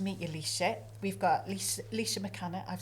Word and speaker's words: Laoishe MacCana: We've got Laoishe MacCana.